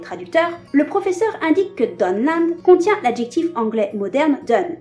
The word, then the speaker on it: Dunland: Il faudrait donc les prononcer Dunland et Dunlending.